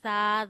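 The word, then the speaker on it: ث: We create whistle sound in front of while reading seen, but sa we read without whistle.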